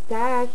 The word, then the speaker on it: dag: Dag.